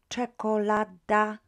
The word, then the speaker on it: czekolada: So, mapa, czekolada, toaleta, nauczycielka. Let's spell them first, pronounce them first. Mapa, we had that word before, a map, no problems. Now we've got cz, had that sound before as well.